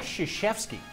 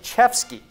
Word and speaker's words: Krzyzewski: It's Mike Krzyzewski. That's what I said. No. Mike Chevsky.